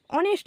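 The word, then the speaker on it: honest: অনেস্ট ম্যান বলতে পারতাম কিন্তু আমরা কি বলি অনেস্ট ম্যান অ্যান অনেস্ট ম্যান একজন সৎ ব্যক্তি এইচ টা ও এর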